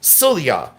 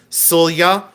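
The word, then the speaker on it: sølje: So, this is a sula. And now I found out how to pronounce it. It's Sulya. S O L J E, but it's pronounced Sulya.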